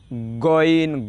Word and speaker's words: গইন: যেমন গইন হরফটা হলকের শেষ হইতে উচ্চারণ হয় গইন গইন গ গ,